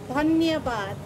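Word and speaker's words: धन्यवाद: Dhanyabad.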